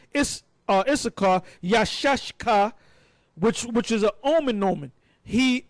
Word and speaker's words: Issachar: Now, the way to pronounce it is not Yashaka, it's Yashashka. Yashashka.